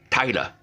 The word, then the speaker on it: tailor: Taylor is pronounced as Tyler. So the person who sews your clothes in Australia is called a Tyler, and even in London, tailors, it's called tilers.